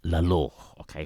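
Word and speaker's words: Lalor: pronounce them correctly okay so it's La okay for that person that um wants a the correct pronunciation okay now just C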